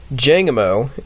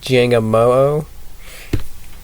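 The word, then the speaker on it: Jangmo-o: Jangamo is one of my favorite dragon types. Even though it's technically pronounced like, I think it's like Jangamoo, Tanamoo, and I cannot tell you the tossed one's name off the bat.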